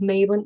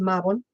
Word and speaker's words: Mabon: And so and before you think in your head, "Oh, let me correct Laura is Mabon." No, it's not, it's Mabon.